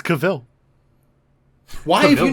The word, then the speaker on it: Cavill: seems kind of weird isn't your name is not pronounced Henry Cavill he's like no no it's not it's Cavill why have you not